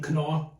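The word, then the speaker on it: Knorr: By the way, this is Nor brand or German pronunciation, Cano.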